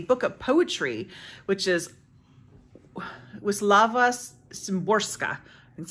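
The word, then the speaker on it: Wisława Szymborska: reading is a book of poetry which is WIS laava sorka that's how you say her name um she's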